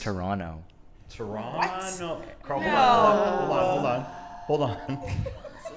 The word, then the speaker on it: Toronto: say you're from Toronto, why are you saying the T at like the second T?